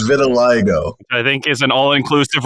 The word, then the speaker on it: vitiligo: It's vitiligo. I think is an all-inclusive resort in Cancun. It's not vitiligo. It's vitiligo. There's a whole other vowel in it.